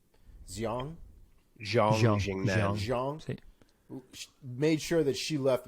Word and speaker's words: Xiong: Definitely made sure that how do we pronounce her name? Xiong.